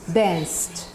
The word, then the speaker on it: danced: Is T, because when you say dance, the sound is S. Okay? Danced.